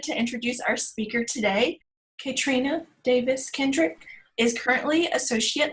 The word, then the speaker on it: Kaetrena: just a quick clarification my name is pronounced Katrina so please call me Katrina or a Trina's fine I'm excited to talk